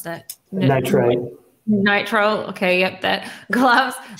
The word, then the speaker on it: nitrile: 95 percent alcohol powder free how do you pronounce that nitrite nitrile okay yup that gloves like hand tools to